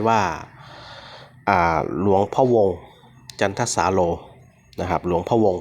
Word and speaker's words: จันทสาโร: ทาง นี้ อ่าน ว่า จันทร์ ท สาโล อ่า จันทสาโร นะ ฮะ ลวง ของ พระ ครู นะ ฮะ